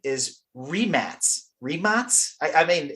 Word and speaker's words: Rimac: like changed names like like 10 times it's pronounced Matty and the last name is remat remat I I mean it's not remash and all these other remac and all these